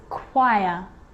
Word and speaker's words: choir: occasions it's not pronounced the h is silent so it's choir with a g ghost ghost